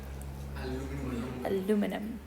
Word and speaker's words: aluminum: How do the Americans pronounce aluminium? Aluminum.